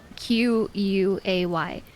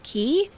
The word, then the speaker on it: quay: used to know how to say that word q u a y and so I'd only ever read it and